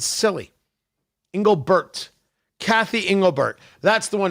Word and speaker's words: Engelbert: Oh, and Engelbert, not Engelbrecht. Man, I do feel bad about that.